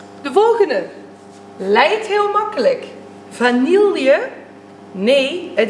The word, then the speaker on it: vanille: Vanille? Nee, het is echt vanille. Je spreekt de L helemaal niet uit in het woord vanille.